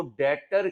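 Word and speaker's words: debtor: उधार के गाहक को डेटर कहते हैं क्या कहते हैं बी साइलेंट है और इसका दूसरा नाम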